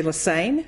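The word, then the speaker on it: Lesesne: doesn't look like leaine just remember it rhymes with insane I've been a professor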